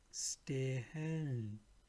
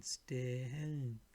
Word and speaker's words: stehen: this, it will be, you have to pronounce it a little bit longer, like stehen, meaning still, steel. Sehen, meaning see, to watch. Sehen. Gehen, meaning walk, go, walk. Gehen. So again, stehen, sehen, gehen.